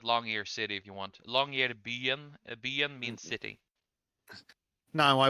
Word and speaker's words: Longyearbyen: Longyearbyen Yeah, long. is 2,000 kilometers. That is tiny numbers, then. Also, Mhm. you can just call it Longyear City if you want. Longyear Byen.